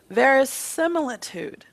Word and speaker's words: verisimilitude: it you don't remember it what very close verisimilitude vairocina key okay we need to work on